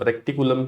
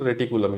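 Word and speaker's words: reticulum: Endoplasmic रेटिकुलम, रेक्टिकुलम भी pronunciate करते हैं, लेकिन रेटिकुलम याद रखो।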